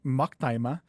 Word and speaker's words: Macktima: McTima. Um my last name actually, if you want to pronounce it correctly, I guess is uh actually Maktima.